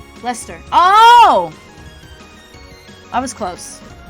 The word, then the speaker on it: Leicester: Leicester? Is it? It's British, so that means I cut out like a syllable or two. How say? Leicester.